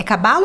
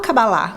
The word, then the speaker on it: cabala: a visão da cabala é cabala ou cabalá Como que fala pode usar as duas pronúncias não tem problema Maravilha e outras citas